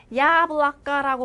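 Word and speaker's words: яблоко: 야블라까라고 발음하지만 끝에 오다.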